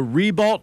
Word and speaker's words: Ribault: That's why we don't call it Ree-beau, they call it Ree-balt. And for many generations to come, the Ree-balt name stuck.